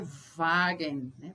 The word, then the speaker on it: Wagen: aprender lembrando sempre que o w em alemão é pronunciado ver como se fosse um v né Um Bom exemplo é Wagner Wagner quer dizer carro